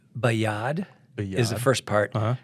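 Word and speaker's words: בְּיָד רָמָה: so I can you tell us how to pronounce it yeah yeah uh with the B it's bayad is the first part Rama R yeah and that would be the lifted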